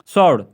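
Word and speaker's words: sword: तो डब्ल्यू इसमें साइलेंट है। इधर जो है सॉर्ड।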